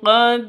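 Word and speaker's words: قَدْ: Kullun qad alima qod alima qad dal dal dal hurufnya qalqalah dalnya harus sukun lah sudah memenuhi syarat berarti ini bacaan qalqalah hukum qolq hukum qalqalahnya berlaku. harus dipantulkan ke huruf dalnya.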